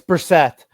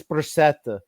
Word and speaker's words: Brissette: It's Brissett. But, no, it's French. It's Brissette. He wants to know the truth, at least.